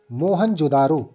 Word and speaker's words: मोहनजोदड़ो: इनमें से 2 नगर बहुत ही महत्वपूर्ण हैं, पंजाब का हड़प्पा तथा सिंध का मोहनजोदड़ो। दोनों ही स्थल जिसका मूल उच्चारण है मोहनजोदारो, जिसका शाब्दिक अर्थ है प्रेतों का टीला।